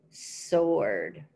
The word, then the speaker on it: sword: Hello, sword. In that word, sword, that W is silent, so we don't say sword. It's hello, sword.